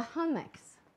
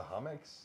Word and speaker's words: Hummocks: The Hummocks.